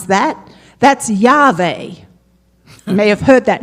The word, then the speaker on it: Yahweh: That's Yahweh." You may have heard that name, right? Yes. And in fact, the name Yahweh takes the vowels of another name of God, Adonai, and pronounces it to the unpronounceable name